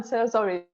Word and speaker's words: Cerasoli: Yeah, well done, Cerasoli. This surname comes from Italian language, and in Italy, they are very confused about it. Some people say Cerasoli, some people say Cerasoli.